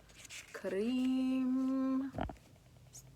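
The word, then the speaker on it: Krim: Karim. K-R-I-M. Pronunciation. K-R-E-E-M. That's how it's.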